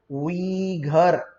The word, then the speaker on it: Uyghur: उइघर, उसको उइघर उइघर ऐसा ना कहे, इट इज उइघर।